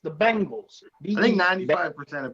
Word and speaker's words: Bengals: pronounce the bengals the bangles it's not bang it's not spelled b-a-n-g they always say the bangles it's the bengals i think 95 percent